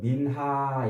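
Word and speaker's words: מנחה: 히브리 원으로는 민하 이렇게 발음을 하는데 민하 감사 예물이에요.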